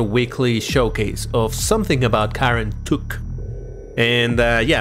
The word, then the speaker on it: Kar En Tuk: tuk and uh yeah i'm trying to pronounce it a little better because last time people were grilling me that i'm pronouncing it wrong god and duck all right karen took we're gonna we're gonna go with that as you can see